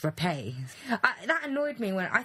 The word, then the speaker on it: Rappe: these beauties named junior up no no it's pronounced repay that annoyed me when I thought was rough